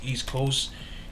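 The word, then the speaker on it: Eastkoast: East Coast is spelled EAST, but instead with a C is with a K. So it's East Coast.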